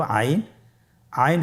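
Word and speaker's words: ع: এর মধ্যে একটি হরফ হল আইন। আইন হরফটি উচ্চারণের সময় অবশ্যই তিন আলিফ টেনে পড়তে হবে। এখন আইন হরফটি বারিক হরফ। পাতলা করে পড়তে হবে।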